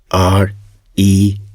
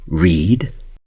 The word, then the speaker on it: read: The spelling of the word R-E-A-D is the same in both cases, but the pronunciation is different. In the first case, it's read, and in the second case, read.